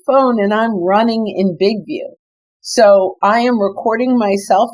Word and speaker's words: BIGVU: And also, just really quick, Big View is spelled BIGVU. BIGVU, because I don't want people putting in VIEW.